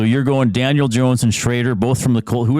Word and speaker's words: Shrader: Spencer Shrader. How do you spell that? Spencer. Well, I'll just lead the last name. Shraider.